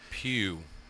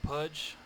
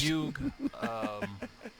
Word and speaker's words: Pugh: I've heard Pudge. I've heard Pudge. Pugh. What else have I heard? I could see. I've heard. I could see puke.